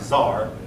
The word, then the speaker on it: tsar: So he called himself Tsar. Now some books will spell that C-Z-A-R, which this looks more like Caesar than this, but the Russians seem to pronounce it more like Tsar.